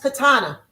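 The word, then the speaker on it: קטן: A little is katana. So little sister is a koot katana.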